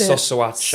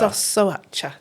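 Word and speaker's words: Șoșoacă: I think it's Sosoacha. Sosoacha, thank you.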